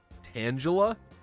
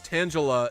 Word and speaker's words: Tangela: but no i say tangela yeah but someone's was saying they say tangela tangela i mean it's close to tangelo which is a real fruit nothing but it's like